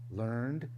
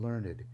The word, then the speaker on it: learned: learned ignorance in fact when I say learned ignorance I want you to hear both pronunciations learned and learned he has learned it